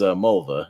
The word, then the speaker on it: Mulva: She was Mulva, if you know Seinfeld. Okay, yeah. Dolores or Mulva or whatever you want to call her. It rhymes with the woman's body.